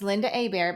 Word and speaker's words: Lynda Hébert: You know, my name is Linda Abear, but it's nothing like it sounds.